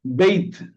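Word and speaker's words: בַּיִת: What is the pronunciation, sir? Yes, Beit.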